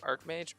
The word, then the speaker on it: Archmage: Is it Archmage or Archmage? Because that's gonna keep bugging me, guys. Archmage. Okay. So yeah, you pronounce it arch as in arch, not arc.